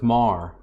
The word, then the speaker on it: Meagher: life-changing thing for me i never knew that's how to say your last name so it's mar yeah yeah it's some old irish deal and uh the only people that i meet that pronounce it right are people that happen to know someone that had the same last name because it's if you